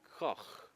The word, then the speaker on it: Koch: Wait, you said similar to cough, right? So, Koch, or something like that, probably is how it's pronounced.